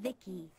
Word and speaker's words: VI: transistors by the way I'm VI I pronounced this Vicki my Creator was BB